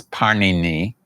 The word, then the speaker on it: Pāṇini: known his name is Pāṇini. And Pāṇini kind of like the I mean his name is very much like the Italian bread, Pāṇini.